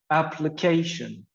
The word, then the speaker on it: application: We have the word application. Application. So we have the stress on the third syllable.